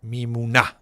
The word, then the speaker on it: Memuna: I was told that the accent is on the last A. Memuna. That's how you call it.